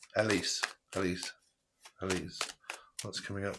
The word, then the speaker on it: Elise: Is it Elsie? Alexa, how do you pronounce E L I S E? I pronounce that Elise, but I'm always